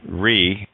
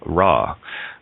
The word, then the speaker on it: Ra: And Re is the proper pronunciation of Ra, right?